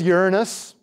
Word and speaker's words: Uranus: than a 100 volcanoes going off simultaneously here's Uranus and that is the correct pronunciation for anyone above the age of 6